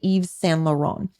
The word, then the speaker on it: Yves Saint Laurent: Another one, YSL is the safe way to say it if you want to say the initials, but it's actually Yves Saint Laurent.